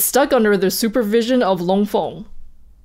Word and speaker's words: Long Feng: under the supervision of long fong or long fang i guess gotta pronounce it the white way his name might mean